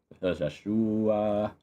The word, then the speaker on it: Joshhhuaaa: It is literally how you pronounce it. I was just kind of trailing off, but actually is how you pronounce it. It's Josh with three H's and three A's. Joshua.